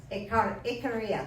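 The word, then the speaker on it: Ikaria: A stamatus who lived in Midwest went back to Ikaga whatever it is. Um Iaria, that's how you say it.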